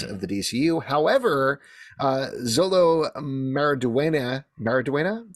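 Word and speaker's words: Xolo Maridueña: the new heads of the DCU however uh Zolo maraduena maraduena Zolo maraduena that's how you pronounce his name uh he has said that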